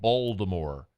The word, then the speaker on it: Baltimore: Baltimore and they they they basically pronounce the T as a d and it's like balmore it's like well is